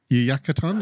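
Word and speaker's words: Yucatán: I think it's Yucatan. Is that how you say? Island? I'll assume you're right. Yep, sounds perfect.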